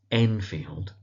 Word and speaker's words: Enfield: So that's Utterson, emphasis on the ut, the first syllable, Utterson. We have his cousin, Richard Enfield. That's Enfield.